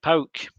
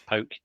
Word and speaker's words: PAOK: But we played Pauk or PAOK, depending on how you say it. I'm told it's Pauk.